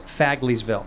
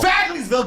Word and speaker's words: Fagleysville: This is how you say it. Fagley. I said Fagleysville. You go, Fagleysville, get back in the closet.